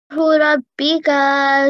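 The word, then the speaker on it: رَبِّكَ: And in order to improve a bit, you can make the ra, which should be pronounced with a full mouth, a rounded mouth. So it's Rabbika and Ram.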